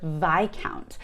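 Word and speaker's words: viscount: a lot of americans and people globally really mispronounce the word vi count or vi countess so a lot of people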